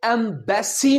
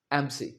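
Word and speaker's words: embassy: आओ देखें यह होता है यह एमसी एमसी सो एंबेसी नहीं जोर देकर नहीं कहना एंबेसी बैसी नहीं बसी एमसी एमसी ना के एंबेसी एम्बसी का मतलब दूतावास आओ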